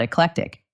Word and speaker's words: eclectic: For example, a music collection with only pop music is not eclectic. Let's practice this fun word. The stress is on the middle part.